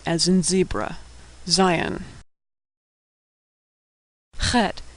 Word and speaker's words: Het: as in zebra Zion Hut is pronounced a throat-clearing noise that doesn't occur in English it's like in a in German or luck in Scottish Tet Tet is pronounced